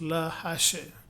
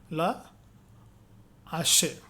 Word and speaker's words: hache: In French words that begin with H, aspire, the H is not pronounced, but there is no liaison and no elision.